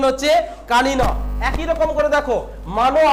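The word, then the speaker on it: কানীন: কি উত্তর হচ্ছে, কানিন, উচ্চারণ হচ্ছে কানিন।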